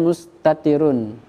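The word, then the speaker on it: مستترٌ: Adapun dhamir mustatir bacanya mustatirun. Jika harokat itu tidak ada harokatnya. Ya, bahasa Arabnya mustatirun, harokatnya mustatirun. Artinya dhamir yang tersimpan.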